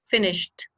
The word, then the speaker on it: finished: And the children have finished, and he pronounced also the verb correctly because he said finished. It's with T.